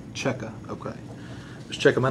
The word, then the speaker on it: Checka: last name c-h-e-c-k-a okay and you pronounce it how it checker okay let's check my